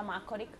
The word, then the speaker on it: Macoric: Macoric. È giusta la pronuncia Macoric? Sì.